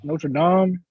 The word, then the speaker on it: Notre Dame: a kid named kyle hamilton from notre dame notre dame that's how you say it 6'4 200 safety